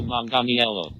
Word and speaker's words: Manganiello: don't have that okay here we go Joe Manganiello yellow Joe Manganiello that's that's how the computer